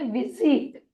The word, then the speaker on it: visit: लेकिन क्या आपको पता है एस की एक और आवाज है जो होती है ज, ज। और इसीलिए हम उसे कहेंगे विजिट, विजिट।